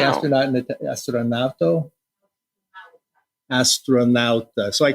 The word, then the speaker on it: astronauta: And there's this big mosaic of an astronaut on the surface of the moon. Well, how do you say astronaut? Astronauto? Astronauta.